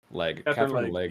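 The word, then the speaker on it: Katherine Legge: I always get her last name wrong. Catherine Legg.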